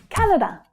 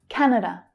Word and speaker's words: Canada: Canada. Canada. The stress is on the first syllable. And see how the second ones reduce to the schwa sound, the unstressed sound.